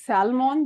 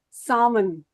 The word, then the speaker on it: salmon: This is We don't pronounce this as salmon. This is salmon. L is silent here.